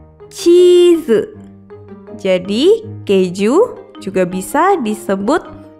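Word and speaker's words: チーズ: Ditulis dengan huruf katakana menggunakan huruf chi, strip, z, cheese.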